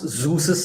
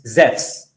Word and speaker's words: Zeus: We we think that because in English we pronounce Zeus's name as Zeus. But in Greek, in the original Greek, the name of that false god is not Zeus as we say in English. It's Zez.